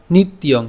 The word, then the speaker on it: নিত্যং: এরপর নিত্যং। কেন নিত্যং? এই যে জফলা আছে, তাহলে আমরা এখানে কি উচ্চারণ করছি? নিত পর্যন্ত উচ্চারণ করলাম, এবং জফলার উচ্চারণটাকে ইয় করে ইয়ং উচ্চারণ করছি, তাহলে ইয়ং, নিত্যং।